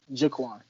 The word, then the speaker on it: JaQuan: All right, so JaQuan. Yes, Uh, sir. it's JaQuan, right? It's not JaQuan. You go. It's JaQuan, right? So it's the second one, JaQuan.